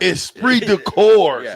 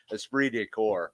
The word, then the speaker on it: esprit de corps: a spirit decorps mean esprit de corps esprit de course y'all saying it wrong it's french i can never pronounce those french words either but i've heard it enough it's esprit de corps what is that means